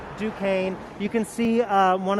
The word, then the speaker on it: Duquesne: you could I mean it kind of looks like Duchesne but it's pronounced Duquesne you can see uh